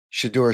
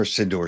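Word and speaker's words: Shedeur: Legendary Shador Sanders or Sidor Sanders. Shidor Sanders I guess is the proper pronunciation.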